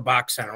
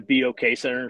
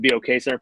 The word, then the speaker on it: BOK Center: we call it the Box Center? Let's start with that. Formally, it's the BOK Center. So what BOK stands for is the Bank of Oklahoma. So it is the BOK Center.